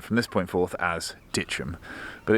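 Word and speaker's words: Dittisham: had it on good authority that it's actually pronounced Ditchum. So in the hope that I don't offend any locals, I'm going to refer to it from this point forth as Ditchum.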